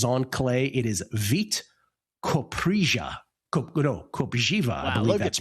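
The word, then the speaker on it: Kopřiva: Copiva I believe that's pronounced. These are fantastic. Okay. No, it's it's beat copiva. I believe you pronounce it with a z sound. Okay. Vit Kobjiva against Ignasio Booze.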